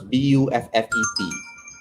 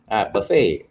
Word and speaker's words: buffet: How do you pronounce Buffet? Yes, we learn phonetics and phonology. Yeah, you should. Okay, English majors would definitely. Buffet, right? It's buffet. Ada yang sebut buffet. Okay, the silent T.